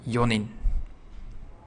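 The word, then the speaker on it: 四人: 4 people, does not have the n sound in it. For yon, it becomes yonin.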